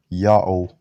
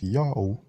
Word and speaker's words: Ya'oh: read Iota, Alpha, Omicron, read it as Yao, just like the basketball celebrity Yao Ming.